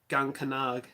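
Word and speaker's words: Gean-cánach: to put it lightly the word is pronounced and Gant gonca nog um we're talking about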